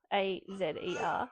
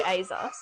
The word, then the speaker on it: Azer: Azer, A-Z-E-R. I would say... I say Azer. I'd say like Azer. Ooh.